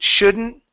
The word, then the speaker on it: shouldn't: When you have words that like wouldn't, same thing. Wouldn't, couldn't, shouldn't. Okay? Mix the D and the N together. You're going to focus more on the N than the D.